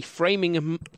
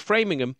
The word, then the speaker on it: Framingham: So in 1948, researchers started the Framingham Heart Study. This was a long-term cohort study looking specifically at the residents of the town of Framingham in Massachusetts.